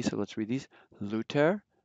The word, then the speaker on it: Luther: Then other remarkable differences are TH is pronounced like, just like a T, so let's read these. Luther, Goethe.